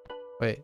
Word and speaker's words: は: は Wa, okay, particle that defines the topic, right, in a sentence. Wa is pronounced wa.